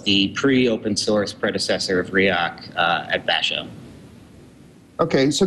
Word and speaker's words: Riak: to explain now I probably even mispronounced it riak ryak how do you pronounce that first the word is it's riak um chosen mainly because um it's it's easily